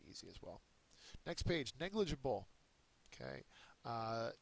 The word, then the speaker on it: negligible: as well next page negligible okay uh negligible is an adjective it is a first syllable accented it's often a term